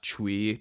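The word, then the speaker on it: Twi: I was is called pronounced Chui t-w-i and that's sort of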